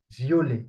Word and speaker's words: violet: It's vi vi okay vi the t is not pronounced v.